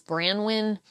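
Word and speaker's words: Branwyn: So I think the way you pronounce the company is Brandwin.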